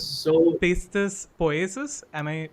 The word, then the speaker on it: Pistis Poiesis: is so I just wanted to know the We exact had a lot of pronunciation of your short film first. Okay, It's so Pistis Poiesis, am I right?